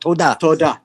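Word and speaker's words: תודה: You how to pronounce that? Toda. What's that? Toda. Thank you. Oh, what's the mean? You mean Toda. Hebrew. Thank you. Hebrew. That was Hebrew. Toda. Toda. How cute. Toda. Also provide Toda.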